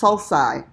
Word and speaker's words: sulci: the valleys singular sulcus plural should be something related to sulk but it's salsa but I tried not